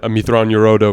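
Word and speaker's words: Mitth'raw'nuruodo: beginning of the first book when uh when amitron yorodo meets palpatine for the first two busting out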